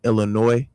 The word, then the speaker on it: Illinois: That's why I always get annoyed with people pronouncing Illinois. The S is silent.